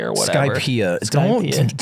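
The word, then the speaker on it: Skypiea: I made it to like Sky City or whatever. Skypia.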